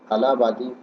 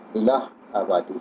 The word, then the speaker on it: الہ آبادی: شاعر اکبر الہ آبادی، کچھ لوگ اسے الہ آبادی یا آلہ آبادی پڑھتے ہیں، جو کہ غلط ہے۔ صحیح تلفظ اکبر الہ آبادی ہے۔ الہ آباد ہندوستان کا